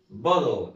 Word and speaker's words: bottle: وحرف التي طبعا في الانجليش بيبقى اشبه نطقه زي الدي، بس بيبقى ايه؟ مخفف شويه. اسمه ايه؟ بودل.